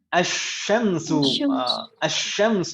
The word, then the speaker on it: الشمس: Kalau qamariyah itu al-nya dibaca jelas, kalau huruf syamsiyah jika mengawali kata ism dan ism tersebut ditambahkan al, maka lamnya idgham langsung ke huruf shin. Tidak terbaca jelas. Jadi kita bacanya asy-syamsu, gitu ya.